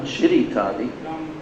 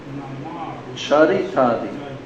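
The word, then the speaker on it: charitādi: Not Chiritadi. Charitadi.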